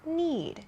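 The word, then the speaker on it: knead: about at this point need k n e a d is spelled differently from need and Eed both of these are verbs but they sound the same and they have different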